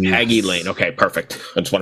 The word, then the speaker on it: Hagy Lane: and talk about and so I'm gonna say hegy Lane is that right haggy lane hagy lane okay perfect I just want to make sure I got the pronunciation right um for those not familiar with